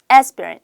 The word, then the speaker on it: aspirin: 그러면 I'm allergic to aspirin asp린은 aspirin aspirin 요거는 그냥 발음 똑같으니까 아스피린 하지 마시고 발발음 조금 살려서 asperin 다시 한번 aspirin 하시면 돼요.